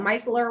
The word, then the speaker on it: micellar: so if you're gonna you have a beautiful french pronunciation i love that but here we i call it micellar water with my midwest twang and um yes i